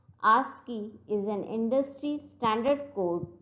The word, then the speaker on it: ASCII: ASCII codes written as ASCII and it is pronounced as ASCII.